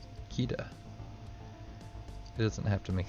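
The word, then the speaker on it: Qitta: Her name is spelled Q-I-T-T-A. Because why not? Kita.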